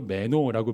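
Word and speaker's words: μένω: 헬라어로 메노라고 발음하는이 단어가 2장부터 2장 엄청 많이 나와요.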